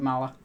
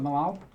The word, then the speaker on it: Malal: Actually, get rid of Nurgle and replace it with Mala. Ah. I hate Nurgle. Also, you can't say his name right either. What, Malal? Yes, there you go.